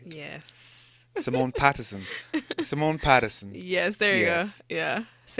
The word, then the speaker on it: Simone Patterson: Her name is Simone Patterson. I said it right. Yes. Simone Patterson.